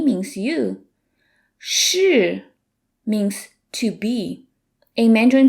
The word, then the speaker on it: 是: It's a retroflex sound. Here's a handy trick to how to say it. It's like saying the English word shirt, S-H-I-R-T, without the T.